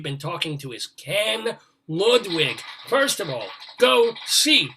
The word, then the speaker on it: Ludwig: Ludwig, I pronounce it Ludwig for what it's worth.